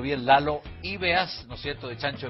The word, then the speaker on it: Lalo Ibeas: Oye, y a propósito de experiencia de vida, ¿qué dice tu pololo, Pamela, que es, para pronunciarlo bien, Lalo Ibeas, ¿no es cierto?, de Chancho en Piedra, por todos conocidos.